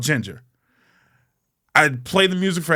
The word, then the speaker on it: Jinjer: Ginger, spelled with a J. Jinjer.